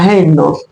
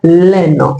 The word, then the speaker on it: haine: La la haine. La haine, on dira pas l'ine. Il ne faut pas élarticle devant ce mot puisque nous avons un h aspiré.